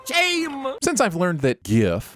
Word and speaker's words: GIF: since i've learned that gif must be pronounced with a hard g because it stands for graphic i've made it my